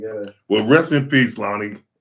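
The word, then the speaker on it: Loni: Well, rest in peace, Lonnie. I called her Loney earlier. Loney. That's worse than what I said. I don't believe so. A mispronunciation. Well, I just didn't know her name. Loney. Loney baloney.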